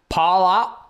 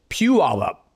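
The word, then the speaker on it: Puyallup: and they don't they don't know how to pronounce it they're like is that Paul up P I'm like no it's Pew all up they're like oh I'm sorry and I'm like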